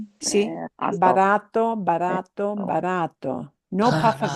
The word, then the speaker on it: barato: In Spanish, you should feel no puff of air. See? Barato, barato, barato.